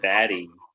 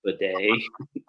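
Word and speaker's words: Badie: he it's not Tyler baddy he wants he wants it pronounced b day like the ass cleaning device so just like aan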